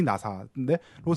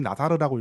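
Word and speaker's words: Nassar: 뭐냐면 조지 나사인데로 잘 알려졌지만 원래는 제가 봤을 땐 조지 나사르라고 읽는 게 맞는 것 같아요. 왜냐하면 이 사람이 시리아 계통의 사람인데 이 사람이 그 어떤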